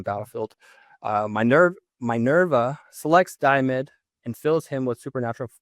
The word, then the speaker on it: Diomedes: I want to call him Diamond, but I don't think that's how you pronounce it, but it's Damed.